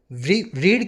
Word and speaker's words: read: आपको पता होगा ना लेकिन सेकंड और थर्ड फॉर्म को हम बोलते हैं रेड रीड रेड रेड spelling same रहेगी ट v3 में रेड बोलने लगते हैं रीड को अब व सारी बर्ब्स